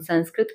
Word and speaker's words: संस्कृत: और सम उपसर्ग लगे होने के उपरांत हम संस्कृत उच्चारण जो करते हैं वो उचित नहीं है।